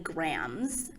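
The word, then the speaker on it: Grambs: main character avery kylie grahams i think i'm pronouncing that name right there's like a silent b at the end of grams and it's actually kind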